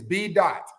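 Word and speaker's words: B.Dot: One, it's B dot, pronounced like B-O-T.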